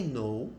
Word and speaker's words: know: verbo conhecer saber né ele não é pronunciado tá várias palavras a gente tem por exemplo no você tem eu tô lembrando aqui na Faca em inglês não fala knifer é I know I